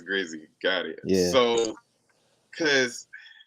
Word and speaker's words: Grizzy: So people will think it's Grizzly. I'm like, nah, it's just Grizzy. It's Grizzy.